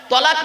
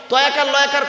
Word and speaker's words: তলাক: তলাক মানে পৃথক দেওয়া, ছেড়ে দেওয়া, ডিভোর্স দেওয়া। আর তেলাফ। তলকার ক। তালাক মানে জুড়ে যাওয়া, মিলিত হওয়া, একত্রিত হওয়া, জমা হওয়া। আমরা তলাক না বলে সব তালাক বলি।